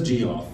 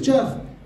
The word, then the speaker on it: Geoff: my driver's license and thinks it still says g off it's true a country with british english spelling and you guys don't get it wrong all the time or i say my name is jeff and they write down